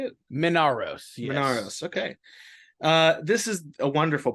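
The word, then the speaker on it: Minauros: Minaros.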